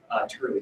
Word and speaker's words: Turley: Turley. T-U-R-L-E-Y. So like turkey instead of a K, it's an L.